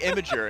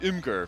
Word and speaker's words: Imgur: Well, I usually would say Imager, and people are like, no, it's Imgur.